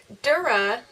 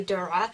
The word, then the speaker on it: Dura: looked like chain mail and dura which is how it's most likely gonna be pronounced by everyone it's actually Dora which is really hard to say it's an Arabic word it in the right